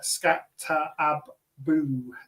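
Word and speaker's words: Skattebo: Scatterbo. Scatter who on their on their pronunciation guide on the official unofficial official official unofficial depth chart it says uh scatter abu two O's scat anyway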